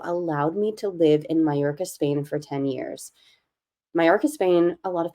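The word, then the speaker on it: Mallorca: to look it up it's spelled m a l l o r CA malorca but it's pronounced mayorca and it is a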